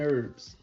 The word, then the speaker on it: herbs: Roasted garlic and herbs. The H is silent, y'all.